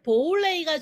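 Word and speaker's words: 普洱: 그러면 남자분들한테는 왜 보울레이가 좋느냐? 보이차라고 한국 분들은 알고 계신데 광동어로는 보울레이입니다.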